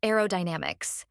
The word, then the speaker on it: aerodynamics: say let's start with aerodynamics this word has five syllables a o damix make sure to stress the third syllable Dynamix another tricky word